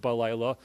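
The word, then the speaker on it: בלילה: If you look at an actual scroll of Tanakh, the word balayla is spelled without the letter Hey. It's actually spelled Bet Lamed Yud Lam. It's pronounced balayla, but it's spelled Bilal.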